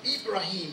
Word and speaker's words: Ibrahim: are to follow the millah of Abraham, of Ibrahim, as it's pronounced in the Quranic Arabic.